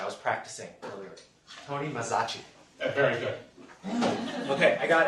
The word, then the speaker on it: Mazzaschi: We're very lucky today to have so Tony, correct me if I mispronounced that. I was practicing earlier. Tony Mazzaschi.